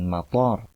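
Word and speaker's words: مطار: Kalau kita mengucapkan mator dengan artian toknya itu dua harokat, maka dia bermakna bandara.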